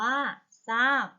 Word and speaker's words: ทราบ: ทราย ซับ อ่าน ว่า ทรัพย์ ทราบ อ่าน ว่า ทราบ ข้อ 2 ค่ะ คํา ควบ กล้ํา ไม่ แท้